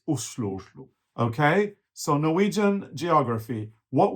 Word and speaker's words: Oslo: And by the way, in Norwegian, the O is pronounced U, so it's Oslo.